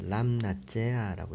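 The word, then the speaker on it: לַמְנַצֵּחַ: 읽기는 람나제아라고 읽었죠. 미음이 그 라 라메드의 받침으로 들어가면서 람나 람나제아 예, 지휘자의 지휘자에게 레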